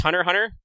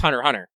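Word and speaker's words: Hunter × Hunter: oh hunter what's just hunter hunter the x is silent i hate exercising by the way supposedly supposedly it's hunter hunter what yeah i know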